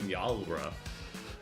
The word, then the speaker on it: Nyalra: So it's like Nalra.